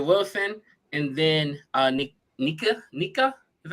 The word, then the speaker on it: Nika: Bana Stewart Asia Wilson and then uh Nika Nika is how you say it neca na na